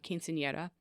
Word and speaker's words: quinceañera: So after a trip to the United States, and that was gifted to her for her quinceañera.